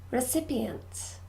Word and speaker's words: recipients: you mental health good recipients recipients recipient for syllables and we stress the second syllable recipients recipients good and